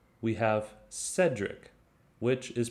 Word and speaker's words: Cedric: group b we have cedric which is pronounced with a soft c in other words it's pronounced like an s so cedric cyril cecil